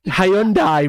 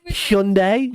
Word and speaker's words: Hyundai: Hyundai. Wrong. No matter what the adverts say, it's Hyundai. Shut up. I always say Hyundai.